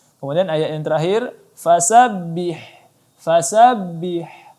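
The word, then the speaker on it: فسبح: Fasabbih. Ya, angin ha di sini jelaskan lagi. Kemudian disambut dengan huruf ba.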